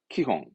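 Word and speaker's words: 基本: 기본의 기자구요 참 많이 보여준 단어죠 그렇습니다 기본입니다 발음은 키홍 기본의 키홍 기본은 키용 다음 요즘 어렵죠 초짜입니다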